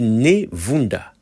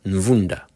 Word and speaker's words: Nevunda: En fait, c'est écrit Nevunda, mais à mon avis, ça devrait sûrement être Nvunda.